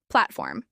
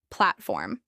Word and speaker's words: platform: Platform. This is pronounced with stress on the first syllable. Platform.